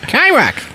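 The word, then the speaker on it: Chyrok: a chi rock okay rock chirok spelled with a c-h-y but you don't gather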